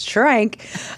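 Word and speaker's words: Schrank: I'm not I wish it was Swank it's shrank uh but I think I'll hyphen I won't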